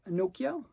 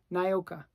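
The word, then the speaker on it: Nyoka: of um this is Nokia Nokia no wait no Nai OKO thanks okay wow why do I always mess up her name naoka there I said it right after a million times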